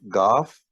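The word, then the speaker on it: گاف: uh and then the The Sibling of calf is called goth and you have those twos two roofs on top this is cough g h a a f Goff and this is kaf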